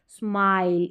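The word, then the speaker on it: smile: हम स्मिल करके पढ़ते लेकिन लास्ट में ई है तो यहां पर ये जो आई है एल से पहले इसको आई करके पढ़ेंगे स्माइल इस तरीके से लॉन्ग उच्चारण इस को स्मिल नहीं स्माइल इस तरीके से प्रोनाउंस करेंगे तो यहां पर एस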